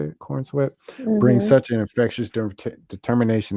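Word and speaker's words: David Corenswet: That's how you say it, Cornsweat.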